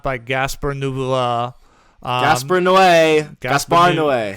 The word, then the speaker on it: Gaspar Noé: Gaspar Noé. That's how you say it.